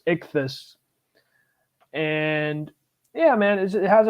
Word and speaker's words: ichthy5: It's pronounced ichthus.